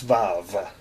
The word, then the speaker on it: vav: this is Vav some people spell it VA you but there's no you it's valve okay it is the